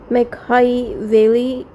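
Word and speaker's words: Machiavelli: modern political thoughts मैकहाईवेली इसका नाम pronounce कर लूं सही से यह है मैकहाईवेली यह जो प्रिंस थे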